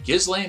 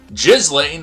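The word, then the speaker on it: Ghislaine: jury in new york federal court has found gizlei maxwell i'm sorry i know that there's a proper production pronunciation that you guys all like jizzling maxwell guilty on five of six counts related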